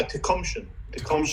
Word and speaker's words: Tacumshane: Is it pronounced Tacumshane? Yeah, Tecumshin, right.